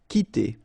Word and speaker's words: quitter: So the idea is that this combination of Q and U together will give you the sound K, okay? So that's the reason why you get qui like that, qui, quitter, all right?